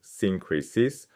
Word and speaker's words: synkrisis: The entire letter is built as a synkrisis — pronounced sin-KREE-sis — a formal Greco-Roman point-by-point comparison.